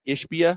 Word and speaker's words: Ishbia: Matt Ishbia.